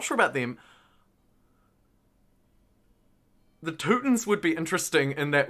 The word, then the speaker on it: Teutons: Yeah, I feel like the Teutons are a nice off-meta one that people don't play. And I like that it rhymes with Rootin'.